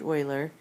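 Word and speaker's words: Euler: of people pronounce it uler but I look stood up one time and it's pronounced Oiler Einstein ignes ignesi Fibonacci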